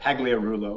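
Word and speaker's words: Pagliarulo: the game yeah yeah yeah um emel he pronounces that pagliarullo or he was probably the most kind of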